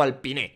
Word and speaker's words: Alpine: las narices al pin creo que la pronunciación correcta es al pin el año que viene